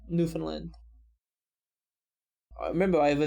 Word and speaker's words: Newfoundland: it ottawa canadians like me dies he also mispronounced newfoundland like a lot of other people it sounds like it sounds it's not hard newfoundland i mean from what i've seen it's mostly just pronounced like newfoundland i remember i have a video on that